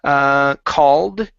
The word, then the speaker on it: called: Okay, give me a T sound at the end. Glanced to his side. Glanced to the side. Uh-huh. Okay, next we have the word called.